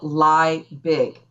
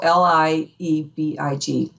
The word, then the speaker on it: Liebig: So it looks, my CPA background, this is so funny because it's spelled lie big, but they flip it a little bit for German. So Liebig, Liebig.